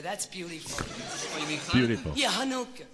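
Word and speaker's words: Hanukkah: with all the candles chanuka that's beautiful you mean yeah hanuka no Hanukah ch just pronounced H oh I see well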